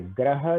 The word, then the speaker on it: ग्रह: तो अब देखिए ग्रह जो है उसका उच्चारण थोड़ा अलग है और गृह जो है वो थोड़ा सा अलग है।